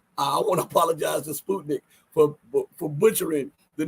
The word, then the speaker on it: Sputnik: interviewed by Sputnik news I finally uh realized the proper way to pronounce it is Sputnik I'm sorry all the times I've said Sputnik but it's Sputnik okay um and I